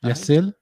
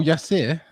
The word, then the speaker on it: Yasir: It's spelt Yasir Ali. Yasir? Yasil?